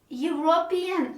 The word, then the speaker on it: European: when we write but when we pronounce it's quite different we pronounce it with a consonant sound european match or european so